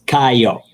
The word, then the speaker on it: Caio: Oh yeah, how do you say ciao? That's how you say it. It's Caio. Kayo.